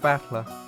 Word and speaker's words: Battler: given name that is made up of characters for flight and person and it's pronounced battler but all together when